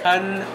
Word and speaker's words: Wontawn: Yeah, how do you pronounce it? WONTAWN? Ton? Like a ton, like 2,000 pounds.